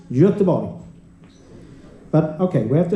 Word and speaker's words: Göteborg: the O in Gothenburg, when you pronounce it in Swedish, Göteborg.